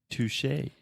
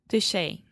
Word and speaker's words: touché: Touché. Touché.